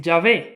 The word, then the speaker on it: Yahvé: Los estudiosos de este tema señalan que la pronunciación más probable de este tetragramaton es Yahvé, y es, por supuesto, la que se utiliza hoy comúnmente.